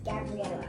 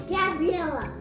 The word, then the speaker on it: Gabriella: name my name is gabriella it's not how you say in spanish it's just the name my name is gabriella okay yes all right